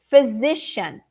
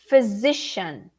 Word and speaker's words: physician: but the meaning so repeat everybody with me physician physician the first syllable is not so um dry and determined okay it's a little bit like in the middle there i can see